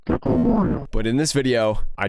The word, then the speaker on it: Gecko Moria: a sense, so please enjoy me learning the pronunciation of this leader. Gecko Moria. One more time. Gecko Moria. So for anyone who wants to know, I now know how to pronounce Gecko Moria.